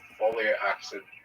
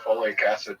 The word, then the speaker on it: folic acid: with autism and the folic acid supplements have an increase causing uh cancer. All right. You're not saying it correctly though. It's folic acid.